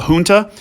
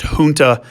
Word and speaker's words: junta: that the fact that the word's pronounced junta and not junta, it has the H sound like a Spanish word, which should hopefully help